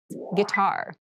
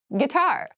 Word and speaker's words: guitar: casual clothing casual clothing guitar guitar guar this word has kind of an interesting spelling it starts with gu I but we pronounce this as G so a guitar is